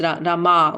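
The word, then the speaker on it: रमा: Yes, Rama with the long A at the end.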